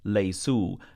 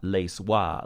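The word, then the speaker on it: ليسوا: this word is pronounced lace ooh not lace wha like it looks the Aleph is silent also we have to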